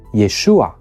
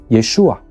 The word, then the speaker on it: Yeshua: version of the contract and that will correspond to Yeshua in the Hebrew name or the Aramaic version of the contract as you can see